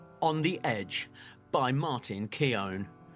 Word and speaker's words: Keown: by Martin Keon so am I saying that name wrong Johnny well yeah you are and I I didn't know I didn't know that how how' you say it it's like gown I guess is how he explained it because you know